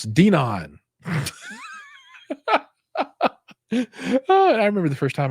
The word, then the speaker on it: Denon: from Alabama and uh in Alabama Denon is pronounced donon I remember the first